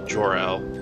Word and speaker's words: Gerald: we got me uh it's spelled gerald but he said it was pronounced like superman's dad so jor-el and shepherd they're about